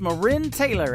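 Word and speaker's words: MaRynn Taylor: summertime song for you her name is marin taylor m a capital r y n n it is pronounced marin taylor and every single summer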